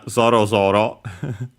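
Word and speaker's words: ぞろぞろ: I know Zoro Zoro uh should be accent on the first um more as usual.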